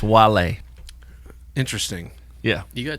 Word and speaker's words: Wale: His name pronounced is Wale. You're showing your age, but it looks like whale, and it's funny because Well, it doesn't look like whale. There's no H.